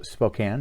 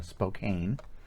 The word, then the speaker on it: Spokane: this is a uh semi-local uh distiller from spokane uh and it is pronounced spokane not uh spokane uh for those of you who are not